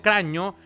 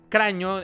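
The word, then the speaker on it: Cragno: Se llama Alessio Craño. Craño. Eh, cuando es GN en italiano se pronuncia como una ñ en español.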